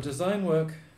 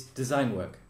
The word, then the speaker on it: design work: It's design work. So you say it like it's one thing, mm-hmm. and design work, normally the stress is on the first word, like policeman.